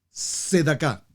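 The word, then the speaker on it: Tzedaká: La tercera T es Sedaká. Pero Sedaká no se escribe con T, pastor. No se pronuncia con T, pero se escribe con T. T es C. T, Sedaká. O tal vez mejor, T-Z, Sedaká.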